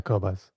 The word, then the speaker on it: Qobuz: Yeah, Qobuz.